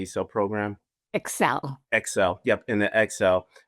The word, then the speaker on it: ECSEL: Excel.